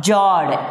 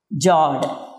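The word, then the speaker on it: fjord: Then next one is, the last one is what we can call jawed. F is silent. Jawed.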